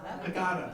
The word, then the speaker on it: Haggadah: Using a book called a Haggadah. Did I pronounce it right? Haggadah, thank you.